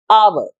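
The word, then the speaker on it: hour: एक वॉवल की, आर, H silent है इधर, इसलिए इससे पहले भी लगता है एन, आवर।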